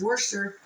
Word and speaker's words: Worcestershire: It's Worcester. It's Worcester. Not Worcestershire. Like, you know, all those crazy Americans say, we say, Worcestershire.